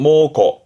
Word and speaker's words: 猛虎: 하나 더 있다면 앞에게 맹자라 사나올 맹자 그래서 사나운 호랑이 맹호 발음은 모고 모고 근데 이한자는 훈독으로서의 토라 호랑일